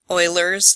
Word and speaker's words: Euler: you will name them oilers theorem is what the formula was that some of us learned about on Friday it's called euler's theorem yes I'm pronouncing that right as in mathematician Leonhard Euler it says that the